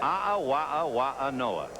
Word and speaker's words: A'awa'awa'anoa: How do you spell it? A'awa'awa'anoa. And that's the right way to pronounce it.